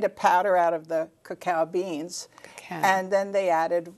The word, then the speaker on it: cacao: child see a CEO it's pronounced cacao cacao chocolate coca no there